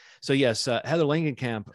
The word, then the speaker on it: Langenkamp: for uh heather lanigan is it lankan camp or langenkamp i always trip over this i think it's lengthening cam it's a hard l i mean hard g r g so yes uh heather